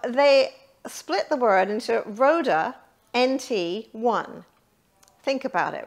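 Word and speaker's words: RØDE: a good microphone sound i actually purchased the rhoda but the story that i love about it so as i mentioned it's spelt r-o-d-e and the o has a line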